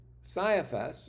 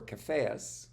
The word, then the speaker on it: Caiaphas: Saiaphas or Caiaphas, whichever way you want to pronounce it, Joseph then Caiaphas.